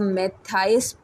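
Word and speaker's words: Mathias: शी इज़ in love with मैथियास। Okay, इसको इसको आप मैथाइस प्रोनाउंस करेंगे, मैथाइस।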